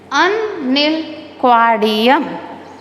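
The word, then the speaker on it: Unnilquadium: Unalquadium.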